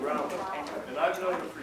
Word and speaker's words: Grauman: you call her Grauman, but I believe she pronounced it Grauman.